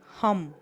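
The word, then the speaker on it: ham: চক্র হচ্ছে থ্রোট চক্র থ্রোট চক্রার মন্ত্র হচ্ছে হাম এইচ এম উচ্চারণ করুন হাম এবার বলুন আমি খুব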